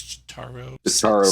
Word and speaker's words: Chataro: charmed by the notorious chataro rhymes with lazario she comes there and